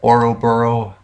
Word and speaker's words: Ouroboros: So I'm pretty sure that it was some sort of how do you pronounce that word? Oro. You know, this, or the Ouroboros, the snake that eats its tail.